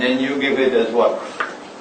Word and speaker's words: waqf: Notice how I pronounce the word, waqf. It's one syllable. Don't take a word from the Quran and make biryani out of it. I'm talking to the Malay people. Okay? The word is waqf.